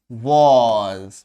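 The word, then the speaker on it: was: इसको क्या उच्चारण करते हैं? वॉज। जो पे यहां पे नुक्ता लगा दो, वॉज की फीलिंग के लिए, वॉज। ठीक है, अगर यहां पे नुक्ता नहीं लगाएंगे तो सिंपल हो जाएगा वॉज, वॉज, बट नुक्ता लगाने पे वॉज, ये की जो फीलिंग आती है उसके लिए।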